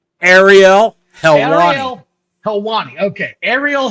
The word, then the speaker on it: Helwani: how do you say his name Ariel helel helwani okay Ariel helwani look dude I'm sorrya Armani what you're like